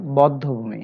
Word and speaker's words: বধ্যভূমি: তবে ব্যতিক্রম আছে, যেমন বধ্যভূমি, এখানে বর সাথে যে অ আছে অটা অয় থাকবে, বদ্ধ হবে না, বদ্ধভূমি হবে উচ্চারণ।